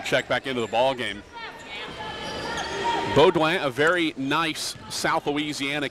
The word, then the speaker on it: Beaudoin: back into the ballgame Beaudoin a very nice South Louisiana Cajun name spelled Bowdoin BAE a you do I am but you don't pronounce the N it's boguang Lady Demons have the